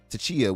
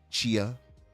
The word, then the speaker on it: Tchia: and the PlayStation exclusive Tchia would from SpongeBob, by the way, SpongeBob and Tchia. I'm sure that's how you say it. Tchia, TCHIA, Mm-hmm. Chia, would arrive on Game Pass throughout the month of June, allegedly.